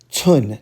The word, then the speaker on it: cun: It's tsun, not to be confused with chun.